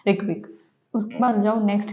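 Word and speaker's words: Reykjavík: अब जो Iceland country है इसकी जो कैपिटल है वो है रिकविक। ठीक है, अब इसमें जो यहाँ पर जो जी है वो साइलेंट है, इसलिए हम इसको प्रोनाउंस नहीं करेंगे।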